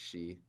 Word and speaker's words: Xi: categories is called the she cleft Point okay spelled XI but pronounced she it's hard to tell